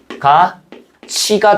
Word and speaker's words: 같이: 앞말의 받침이 티으이죠? 뒷말이 뭘로 시작해? 모음으로 시작하지. 그럼 얘 어떻게 돼야겠어?가 t라고 발음돼야죠. 처음에는가 t 이렇게 되겠지. 근데 보니까 어때? t와 티귿 t과 뭐가 합쳐졌어? 2가 합쳐졌죠. 그럼 뭘로 발음될까? 티귿과 2가 합쳐지면 뭐가 된다? 치이 된다. 그래서 뭐가 돼? 가치가 된다.